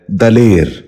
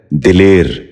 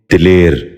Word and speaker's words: دلیر: غور سے سنیے، دماغ۔ 12واں لفظ ہے دلیر۔ یہ غلط تلفظ ہے، درست تلفظ ہے دلیر۔ دوبارہ سنیے، دلیر۔ بچوں آپ بھی ذہن